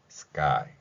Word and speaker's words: sky: sky 이렇게 발음되는 것이죠.